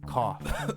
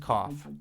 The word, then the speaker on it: cough: And that's because in English, the gh ending in a word often becomes an F, like in cough, enough, and laugh.